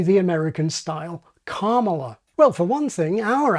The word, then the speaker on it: Kamala: And if we apply this strategy to the Vice President's name, we get what has now become the majority pronunciation in the US, and the one she herself uses. I am Kamala Harris.